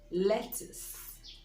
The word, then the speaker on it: lettuce: CC you see e lettuce lettuce the stress is on the first syllable lettuce is that green